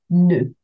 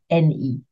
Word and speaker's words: nœud: Just pronounce ne, like when you say N-E, ne.